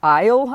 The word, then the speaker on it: Eyal: shared a podcast with nur Eyal I believe is how you would pronounce his last name ey al it's on being indestructible